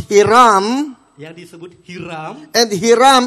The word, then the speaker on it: Hiram: because in the Philippines, Karena dalam bahasa it Filipina is pronounced Hiram.